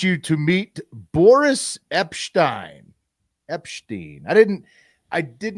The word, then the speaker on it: Epshteyn: It's Boris Epshteyn. It's like Epstein mixed with Einstein.